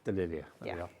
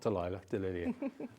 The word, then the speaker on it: Delilia: pronounce this one again delilia not delilah and again a beautiful